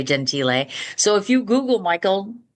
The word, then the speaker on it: Gentile: So I pronounce it Michael Gentile or Gentile. He used to say Gentile.